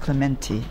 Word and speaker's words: Clementi: I still couldn't see what the argument of fuss about Clementi was, because it is pronounced Clementi. No, it's no. No, you're wrong. No. Go and ask any Italian.